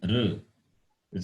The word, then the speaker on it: ṛ: Some people, they pronounce the word as R as Ri. In North people, they pronounce the word, this letter, R as Ri. That is acceptable.